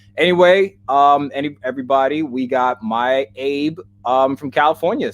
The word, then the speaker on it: Abe: Anyway, everybody, we got Mai Abe from California. Say hi to us, everybody. Hey, everyone. Thanks for having me. It's Abe.